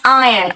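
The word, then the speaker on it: iron: एंड आयरन बेटा आयरन नहीं होता है। इट्स आयरन आर साइलेंट यहां पे आयन है ना?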